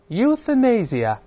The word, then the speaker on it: euthanasia: 比方说通过例句来看一下，这句话说 Euthanasia continues to be an issue of much controversy，